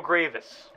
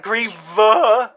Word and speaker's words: Grievous: this is s tier because it ends in s Grievous not griev griev he is right